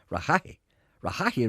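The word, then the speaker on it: Rehaghy: How would you pronounce that? Rahahi Road, Ochnacloy.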